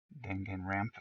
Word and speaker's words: Danganronpa: Sounds like someone is a Danganronpa fan. Danganronpa. Danganronpa. If you say it with a Japanese accent, it's easier to pronounce.